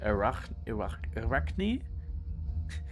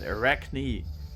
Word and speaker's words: Arachne: Spider lady, Arachne. In Germany we pronounce it Arachne. And I think Greeks would also pronounce it that way. But we are talking English here, so it's Arachne.